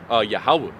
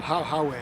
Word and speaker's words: Yahweh: Hebrew, and you know, the name that they were called upon, it was something similar to Yahweh. But of course, they didn't pronounce it right. Within they said, Yahoo or some. Howay or something.